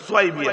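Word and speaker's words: ثويبة: বাঁধি, নাম হচ্ছে সোয়াইবিয়া, যাকে সাউবিয়া সাউবিয়া বলে, সাউবিয়া আরবি উচ্চারণ নাই, সোয়াইবিয়া আরবি উচ্চারণ।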